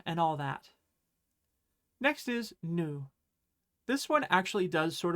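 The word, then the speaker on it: ぬ: Next is nu.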